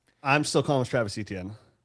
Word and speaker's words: Etienne: You're telling me Devon Achane and Travis, apparently Achane, have the same pronunciation of last name despite almost polar different spellings.